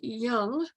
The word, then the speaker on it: Jung: And one of the courses I took was featured Carl Jung, Jung, pronounced Jung.